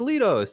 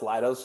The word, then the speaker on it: Leidos: really big booth I'm like oh man there's Leto's and they did a website or they did a project for them yeah it's pronounced leidos it's the other half of SD I see